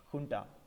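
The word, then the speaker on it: junta: write that as Ju NTA but it is pronounced funda with the help of this army he closed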